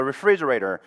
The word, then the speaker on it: refrigerator: Ref 여기 F에서 조금 끌고 가다가 터트리는 게 좋아요. 너무 갑자기 refrigerator 이렇게 하지 말고 refrigerator. Refrigerator 이렇게 해주는 게 좋습니다. 해볼게요.